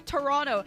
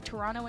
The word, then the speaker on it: Toronto: Overwatch League is coming to Toronto, and if you really want to impress the locals, make sure you don't pronounce the second T.